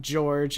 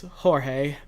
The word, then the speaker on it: Jorge: It's not George, it's Jorge.